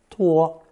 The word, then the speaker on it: 托: Pronounced first tone, 托.